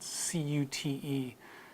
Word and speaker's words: cute: So words like cute, which is spelled C-U-T-E, Americans still say the yod sound, so cute.